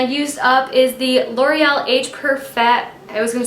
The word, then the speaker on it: Age Perfect: Next thing I used up is the L'Oreal Age Perfect. I was gonna say Age Perfect. Nope. You put the wrong emphasis on the wrong syllable.